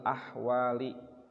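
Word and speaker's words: الأحوال: Ila ahsanil ahwali, dibaca ahwali, ujungnya kasroh karena mudhof ilaih.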